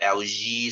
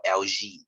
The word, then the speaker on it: algae: it's algae right okay some people they call it lg some they call it lj okay uh if i want to follow proper british pronunciation it's actually called lg okay i'll just call